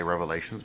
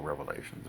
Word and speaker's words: Revelation: with the book of Revelations. Yes, I say Revelations because it is multiple revelations, but be that as it may. I say that because somebody got mad. It's Revelation, not Revelations. There's no S.